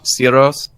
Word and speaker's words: Syros: So how he pronounces it, Syros?